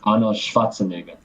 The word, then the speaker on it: Arnold Schwarzenegger: And it's pronounced Arnold Schwarzenegger.